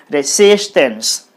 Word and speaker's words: resistance: okay on on yes you put the stress mark then it will be resistance this c should be highlighted while pronouncing resistance like that resistance okay next word